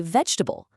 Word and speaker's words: vegetable: Just think about how you say vegetable. See how that first syllable gets all the attention?